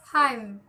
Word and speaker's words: hymn: The letter N is silent in the following words. The examples are autumn, column, hymn.